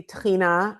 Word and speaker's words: tahini: Um so, you know, obviously tahini I would say is, you know, my friend Mike Solomon calls it the mother sauce of Israeli cuisine and you know, it rhymes with Adina so it's it it